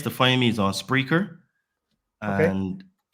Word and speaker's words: Spreaker: find me is on spreer and how you spell that s SP r e a k e r correct it's like speaker but with an R yes okay that's the